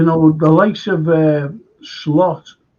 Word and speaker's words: Slot: the light of uh slot or slute as his proper pronunciation he's the type he's